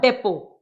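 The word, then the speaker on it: depot: Load load to द डेपो देखिए डेपो डेपो question mark D का stroke pen वाला vowel P का stroke T की sound silent है तो इसे अवॉइड करेंगे।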